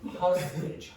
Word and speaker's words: hostage: So the pronunciation is hostage, hostage. Almost never will you say age, except when you're saying the word age. It'll be hostage, hostage.